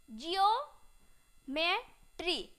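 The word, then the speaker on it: geometry: को ओ क्या है इ ओ को क्या करते हैं उच्चारण इयो से पढ़ते हैं यहां पर देखिएगा क्या है जी से ज उसके बाद क्या है ई ओ तो क्या हो गया जी ओ जिओ मेट्री क्या हो जाएगा जियोम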